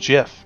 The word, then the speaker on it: GIF: from CNN from 2013 is pronounced jiff not gift on Twitter gift became